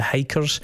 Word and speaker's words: Hykkers: Goat Head has really huge flavours of this band called the Hikers, and it's spelled Hykkers.